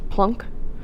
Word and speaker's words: Planck: Max Planck, I know it looks like Planck, but it's German and it is pronounced Planck.